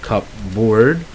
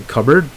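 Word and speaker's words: cupboard: all right you see there's a Peter but it's actually not pronounce you don't say cup board it's actually covered and then you have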